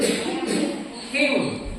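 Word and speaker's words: hymn: good m n h y m n Now Pronounce the word him what is that him what does it mean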